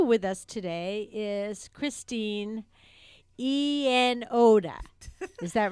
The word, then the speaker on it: Iannotti: Also with us today is Christine Iannotti. Is that right? Close. Iannotti.